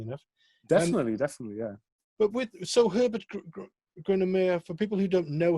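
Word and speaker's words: Grönemeyer: But the guy you're working with at the moment is Herbert Groenemeyer. Yeah. How do you pronounce it? Is that correct? Yeah, it's actually perfect. Grunemeyer, yeah.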